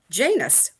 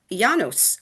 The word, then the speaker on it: Janus: How many of us know that the month of January is named for the god Janus or Yanos, the more correct pronunciation, the doorman, god of beginnings and endings, the one who looks both forward and backward.